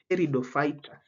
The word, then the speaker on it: Pteridophyta: And you check the spelling, Pteridophyta. P is silent, but don't forget to put that P in your answer.